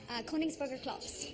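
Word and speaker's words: Königsberger Klopse: How do you pronounce that? Koningsburger Klops.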